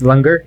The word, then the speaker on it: langar: when doing some research here I'm going to mispronounce it I'm sure but is it langar is that how you say it lunger yeah yeah and I wondered about like so